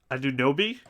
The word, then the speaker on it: Anunoby: I don't know how to pronounce this guy's name either, honestly. Anunoby?